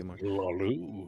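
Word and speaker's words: Hlaalu: None of the Hlalu. Is that the pronunciation you go with, V? Hey, how you doing, Bobby? Hlalu. Yeah, you honor the H.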